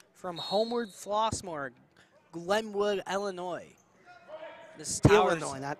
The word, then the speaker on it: Illinois: seven sophomore of Chicago Illinois thank you that's the right way to say it Illinois lashawn's antic ball up